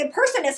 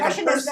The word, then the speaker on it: impressionist: See, I said it right now. I know. I was like impersonist. He's like, you're like impressionist, Nicole.